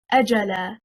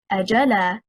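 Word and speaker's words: أجلا: The correct stress is on the first حركة, حركة الهمزة. If we say أَجَلًا, stressing on the second حركة, حركة الجيم, we separated the word into two.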